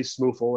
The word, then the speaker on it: SMuFL: that sure i mean you will hear us say smoofle and that's just i don't know how